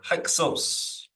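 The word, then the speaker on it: Hyksos: Hixos or Hixos. Hixos that is shepherd kings emphasis on the herd for the first syllable hick according to the sacred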